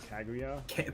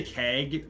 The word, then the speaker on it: Kaguya: You could uh you could pronounce like Kaga like Kaguya. Kaguya. People who say keua. That's a that's a red flag if I've That's just going to start saying Wald Stain.